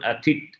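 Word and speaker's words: อาทิตย์: It's written Aditya, but they pronounce one Atit.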